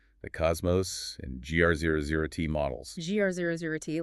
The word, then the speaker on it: GR00T: GR00T, like the character from the movies. It's spelled with 2 zeros, but yeah, that's the idea.